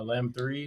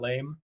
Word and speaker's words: Lamb 3: Uh, Lamb 3, not Lame.